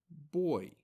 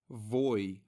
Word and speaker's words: voy: as far as pronunciation the letter V in Spanish is identical to the letter B so it's not voy vas and VA it is boy Bas and ba we've already seen this